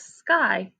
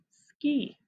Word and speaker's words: sky: The reason is it's only one syllable. When the Y is acting as the vowel at the end of one syllable, then it sounds like an I. If the Y is acting as the vowel at the end of two or more syllables, then it acts like an E.